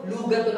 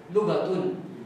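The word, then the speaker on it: لغة: Pag ano sinasabi nila mag-aral ka ng ano lugatul arabi hindi lugatul arabiya walang luga may mad may haba yung lu hindi ganon ang tamang pronounce doon ay lughatul lughatulya hindi lugatul nagkaral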